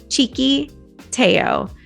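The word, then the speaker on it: Txikiteo: to put it in the description and it's pronounced cheeky Teo guaranteed when you see it down you're not going to be able to make sense how the name of this restaurant is chicateo but it is and you've got to check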